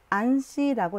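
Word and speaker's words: ANSI: 1998년 미국 표준원, 즉 안시라고 읽어요.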